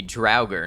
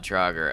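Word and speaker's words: Draugr: people getting that bag dger should be dragger not droger okay well that's going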